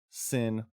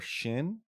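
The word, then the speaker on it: Xin: was Asante so sin spelled x i n pronounced either sin or Shin depending on dialect I found I kind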